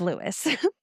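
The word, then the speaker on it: Lewes: According to a guide to commonly mispronounced Delaware places, it's Lewis.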